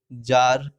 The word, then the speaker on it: tsar: रसिया के राजा को, रूस में राजा को जार कहते हैं। तो इसका स्पेलिंग हम अलग अलग जगह पे अलग तरह का देखते हैं।